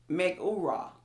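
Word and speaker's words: מגורה: Here in this particular verse, the word fear, and I'm going to try and pronounce it, the Hebrew word, it's megura. And you'll see it on your screen.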